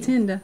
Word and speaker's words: Tienda: Because I always say T. Tienda. It's Tienda. We have Miss Tienda McLean.